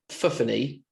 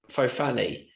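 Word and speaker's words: Fofanny: Now it's pronounced Fuffany, but I was calling it Fofani.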